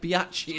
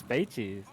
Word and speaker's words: Beichi: It's not like Biachi, is there, or anything? Anyway. Have I got you? No, no, it's Beichi.